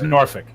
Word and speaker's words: Norfolk: show cool extravaganza in Norfolk Norfolk sorry fee you ever hear him pronounce it nope it's Norfolk yeah it's no Norfolk nor ORF i lk Norfolk that's all you are